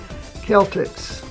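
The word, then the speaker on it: Celtx: come across is called Celtics and that's spelled c e l t X it's pronounced like a k Celtics and it's actually more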